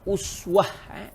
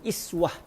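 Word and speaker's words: أسوة: Kemudian setelah Imam Al-Hattab Al-Maliki menyatakan bahawa kalimah uswah boleh dibaca dengan dua cara baca, Al-Imam Al-Hattab Al-Maliki juga mula membicarakan tentang apakah erti kalimah uswah ataupun iswah.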